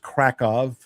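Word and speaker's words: Kraków: We flew to Krakow. Krakow is about 60 miles from Awitz. It's that's kind of the and and would be pronounced Kov by the locals.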